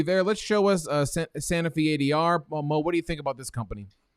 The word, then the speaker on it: Sanofi: is sanofi how do you say it paul sanofi sanofi what the heck yeah by the way